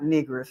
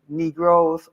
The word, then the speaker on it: Negro: said don't they say understand that two syllables knee and grow the knee and grow two syllables educated people couldn't use